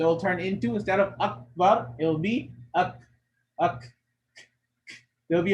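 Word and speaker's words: أكبر: So if you'll notice, the sound will kind of die off once you try to pronounce it. Wala dhikrullahi, akbar, akbar, up, like it closes off. Up, bow. So you can't carry it up. It stops. Up.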